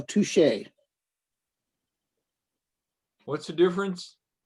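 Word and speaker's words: touché: Didn't he say tushy? No, touche.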